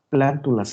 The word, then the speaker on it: plántulas: lo que yo quisiera plántulas lleva acento en la a plántulas energías a los días